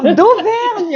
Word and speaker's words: d'Auvergne: This last name has like 12 letters, and you only pronounce like 4. No, d'Auvergne, it's easy. Fine flower, okay? Okay, fine flower. Okay, Baron d'Auvergne.